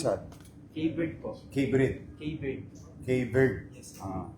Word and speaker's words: Khayvyrd: Okay, how do I pronounce that? K-Bird po.